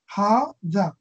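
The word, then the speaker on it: هذا: Note that hadha is pronounced hadha, even though it is written without the first alif.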